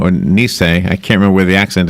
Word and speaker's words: Nisei: I you told me off there then it's pronounced me saying when me saying I camera where the accident is what what